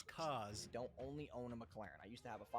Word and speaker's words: McLaren: because he couldn't pronounce McLaren he says the name wrong like eight times in a row it's not McLaren it's McLaren okay so that's how